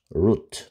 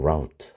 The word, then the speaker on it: route: 예를 들어서 last year 작년에 she made a bus route 또는 route. 발음은 둘 다 가능합니다.